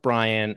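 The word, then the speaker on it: Brien: Not spelled wrong, pronounced Brian, and made me stumble on my words, which my team should have picked up on.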